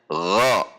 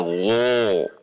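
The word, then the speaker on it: غ: Dibacanya gha, tidak gho, tetapi gha karena infitah.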